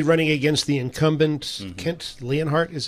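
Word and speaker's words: Leonhardt: going to be running against the incumbent Kent leanhart is how you pronounce the name yes so and this is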